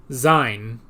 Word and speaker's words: Sein: Okay, that is not how I would have spelled that whatsoever. Sein, but it's spelled S-E-I-N.